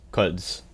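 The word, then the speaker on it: Quds: you even say that cuds Force I've confirmed is pronounced cuds what is the cuds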